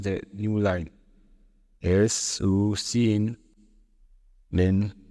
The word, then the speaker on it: cin: Its pronunciation is basically this: S-E-E-I-N, cin.